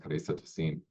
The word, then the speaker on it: Clarissa Tossin: That is how I heard she pronounced her name. So I'm going with Clarissa Tossin.